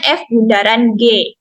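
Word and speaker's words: f ∘ g: itu ada O nah dibacanya yaitu Bundaran bukan dibacanya VOC atau fog ya yaitu Jadi dibacanya F Bundaran G Nah di sini juga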